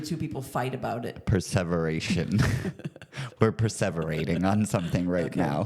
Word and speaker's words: perseveration: you saying it wrong p e r s e v e r a t i o n perseveration perservation that's like preserving something that's not the word she said perservation is when someone